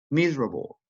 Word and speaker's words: miserable: e that interesting next miserable miserable good again letter e miserable and finally separate separate